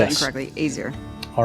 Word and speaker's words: Azir: My father studied in Azir. Is that the name of the place? Am I pronouncing that correctly? Azir. Azir. Yes. I said it incorrectly. Azir.